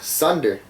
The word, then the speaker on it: sonder: It's called sunder. Or Sunder? sonder. It's spelled Sonder. like wonder. Like I wonder about, but it's sunder. And I guess maybe sonder.